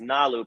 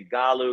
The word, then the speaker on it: Galu: But listen, Nalu, by the way, it's Nalu. People say Galu because it's spelled with a G. It's actually Nalu.